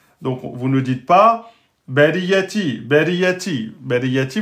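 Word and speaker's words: البرية: Donc, vous ne dites pas bariyati, bariyati. Bariyati, vous avez oublié la shidda. On dit bariyati, bariyati. Hein, on insiste sur le ya.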